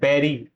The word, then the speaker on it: bury: The correct pronunciation of this word is बेरी।